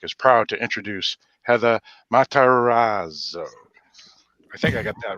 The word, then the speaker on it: Matarazzo: So the Dorkening Network is proud to introduce Heather Matarazzo. I think I got that right. Did he say it right? Matarazzo.